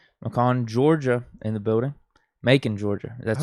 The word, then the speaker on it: Macon: Macon, Georgia. That's how you pronounce it.